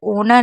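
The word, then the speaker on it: honour: तो ये जो आवर जो ओनर है इसमें याद रखिएगा। इसमें हम एच को साइलेंट रखेंगे और बाकियों में सब में एच को पढ़ेंगे।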